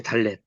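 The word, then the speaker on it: דָּלֶת: 글자가 뭐냐 보니까 달리세요 달렛 달렛은 이렇게 쓰고 내리면 돼요 똑바로 달렛이 굉장히 헷갈려요 달렛 해가지고 발음은 디귿 발음이거든요 근데 우리가 쓸 때는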